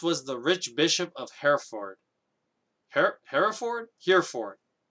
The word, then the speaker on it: Hereford: then four like f-o-r-d so is it here ford or are you supposed to like modify its pronunciation just because you now put them into a compound word like could it be hera ford i didn't actually get this pronounced checked i'm going to say hera ford because i think that's how it's actually pronounced anyway the bishop of hereford